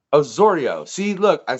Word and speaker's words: Osorio: __ ] up your last name yeah it's Osorio Osorio see look I said it you see okay